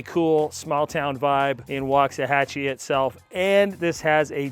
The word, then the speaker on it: Waxahachie: They name stuff and it doesn't sound like it's spelled, and this one's called Waxahachie.